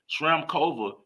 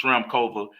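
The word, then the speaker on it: Šramková: especially the 250 tournaments Shram kova that's the girl you couldn't pronounce it's SHRM kova uh she's a Slovakian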